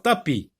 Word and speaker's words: tapis: Alors, tapis. Regardez, tapis. Tapis. Regarde bien. Attention, il y a une lettre muette qui ne se prononce pas à la fin.